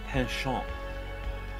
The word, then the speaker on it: penchant: Krispy, it is pronounced a penchant. Oh. We didn't dump tea in a harbor, so I had to say it with a French accent.